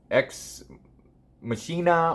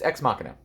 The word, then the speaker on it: Ex Machina: I kept calling it Ex Machina or Ex Machina, but it's Ex Machina.